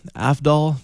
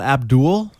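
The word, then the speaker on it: Avdol: It's certainly quite the bizarre adventure, and odd translation that doesn't match up with the anime publication aside, like Afdal, mate, not Abdul.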